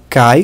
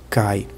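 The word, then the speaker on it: kaj: Kai, que significa E, e ailo. Você vê que a pronúncia do Kai, esse A com J, é o mesmo do A com I do português. Cai.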